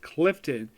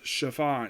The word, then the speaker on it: Chiffon: I see a name it looks like it's pronounced Clifton it's actually chiffon it's well according to my mom who actually